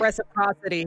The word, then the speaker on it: reciprocity: rule of reciprocity reciproc reciprocity. Thank Thank you. It's very weird because it's reciprocal but the syllables the emphasis changes which syllables. Yeah. Like Canada and Canadian.